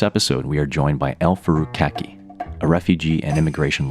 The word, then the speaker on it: El-Farouk: So I pronounce my name as El-Farouk, but I think its proper pronunciation would be more like El-Farouk.